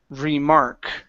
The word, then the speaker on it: remark: last one here is remark remark okay instead of remark re remark remark remark okay watch that R right here before the K you're saying Mark okay push your tongue down remark re Mark good